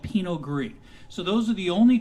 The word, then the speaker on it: Pinot gris: white wine drinker buy a pinot gris g-r-i-s pinot gris yes is silent and you can't go wrong with willamette